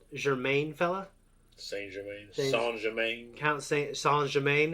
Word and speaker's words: Saint Germain: Count Saint Germain. It's like Saint Germain. It's spelled that way.